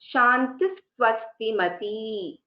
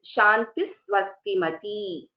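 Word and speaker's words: शान्तिः स्वस्तिमती: pronounce it is as Shantis Swastimati. So Shantihi Swastimati. If there is a Visarga and the Visarga is then succeeded by a Sakara, then it is Shantis Swastimati.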